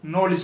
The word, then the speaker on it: knowledge: है, तो मैं आपको नॉलेज की एक बात शेयर कर देता हूं। ये प्रोनाउंसिएशन के मुतल्लिका गिफ्ट है। अगर किसी वर्ड या लफ्ज में डी और जी इकट्ठा आ जाए तो